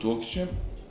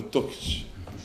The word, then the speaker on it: Tokić: Evo sad sam naučio akcent, jer mi ga u Sarajevo zovemo Tokić. Profesor Zolić kaže, hajmo Tokaljev napad. Evo sad sam naučio od našeg efendije da su ovdje Toke i da se kaže Tokić.